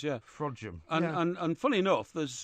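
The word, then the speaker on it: Frodsham: settle a bet on how you pronounce frojim uh and he pronounced it the proper way right fraud Jim is correct isn't it well which other way can you pronounce well I don't know is it spelled f-r-o-d-s-h-a-m yes it is yeah fraudium and and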